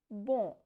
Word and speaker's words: bon: So, as I told you, if there is N consonant, the sound will be nasal. So, it is pronounced as bon from nasal sound.